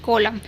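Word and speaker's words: column: को माँ पढ़ा जा रहा है, यानी कि कॉलम। तो यहाँ पर आपने देखा एन कहाँ पर साइलेंट होता है और बहुत सारे ऐसे रूल्स जो मैंने आपको आज सिखाए।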